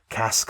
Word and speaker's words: casque: The other new knife from Poikilo this week, coming in at 350 bucks, is the casque. Cask spelled like Basque.